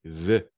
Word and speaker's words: vœux: Tu l'as bien prononcé, Tatiana. Tu as dit vœux. En effet, c'est vœux, tout simplement vœux.